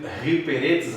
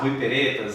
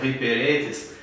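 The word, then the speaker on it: ὑπηρέτης: de usar essas palavras, principalmente a pronúncia, acho que é Ruiperetes, né? Outros chegam a pronunciar Ruiperetas, né? Mas é Ruiperetes.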